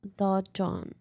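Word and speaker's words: 도전: It's pronounced Dajon. Dajon in Korean. Dajon, like its translation to go, but it can also mean challenge.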